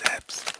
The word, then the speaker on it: Zapps: It's Zaps. I ain't know how to pronounce it at first, but it's Zaps.